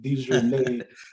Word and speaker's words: DeJournette: DeJournette, that's how you pronounce that, Aunt Renee.